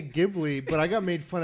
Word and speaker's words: Ghibli: It wasn't airing on Tuesday, the Studio Ghibli movie. So it is pronounced Chiburi. Chibli. Japanese, it's Chiburi.